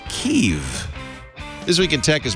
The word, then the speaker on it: Kiev: It's pronounced kev.